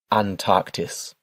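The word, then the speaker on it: Antarktis: And your continent is pronounced Antarctis. Antarctis.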